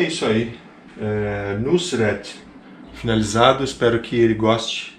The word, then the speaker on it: Nusret: Se liga a pronúncia. Nusret.